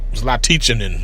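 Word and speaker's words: Zlatičanin: Zlaticanin, that's how it's pronounced.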